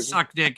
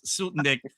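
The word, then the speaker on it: Soutendijk: was in I know, but that's how you pronounce her name. It's not suck dick, it's sutick.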